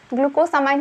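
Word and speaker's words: glucosamine: इसे ग्लूकोसामाइन भी बोलते हैं, इसलिए आप कंफ्यूज नहीं होइएगा, मैं इसे बोलती हूँ ग्लूकोसामिन। ग्लूकोसामाइन भी इसको बोलते हैं, ग्लूकोसामाइन ही सही है, इसका करेक्ट प्रोनाउंसिएशन है।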